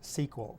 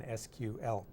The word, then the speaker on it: SQL: So relational databases are often queried using a standard language called structured query language, abbreviated SQL, but often pronounced SQL because it's just easier to say than SQL.